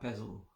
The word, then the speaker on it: pezl: I will spell it L-A-S-I-K-A, and the other word pezl, P-E-Z-L. Just that 4 letters. Pezl. It sounds like a Snoop Dogg Siddhi. Fiddle my weasel and wiggle my pezl, you know.